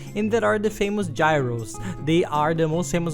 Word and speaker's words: gyros: And there are the famous gyros. They are the most famous of all. The nice thing is that it's cheap. Some people there call it euros. We read gyros.